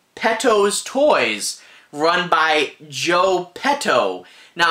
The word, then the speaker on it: Petto: by joe petto now i have to be careful how to pronounce that because it's p e t t o t t not d o p e t t o is sadly it can be quite easy to say pedo and that's completely different